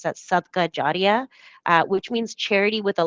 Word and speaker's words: sadaqah jariyah: is this term over here, and you can pronounce that sadaqah jariyah, which means charity with a lasting impact, and specifically voluntary charity with a lasting impact.